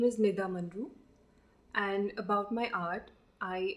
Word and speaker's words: Monroe: So it is pronounced as Monroe. Okay. It's as simple as that. It's Monroe. Okay. But many people get it wrong. Okay. They say Monroe, Monri, and I have to listen to it all the time.